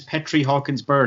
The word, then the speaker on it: Petri Hawkins Byrd: of a century 25 years his name is petrie hawkinsburg how are you doing man listen i'm doing